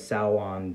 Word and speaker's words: Samhain: villain his name is samhain spelled the same as salwan the you know halloween